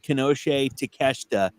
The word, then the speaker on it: Konosuke Takeshita: The only reason I know how to pronounce Konosuke Takeshita is because of Josh Roberts. That's the and he said Konosuke Takeshita.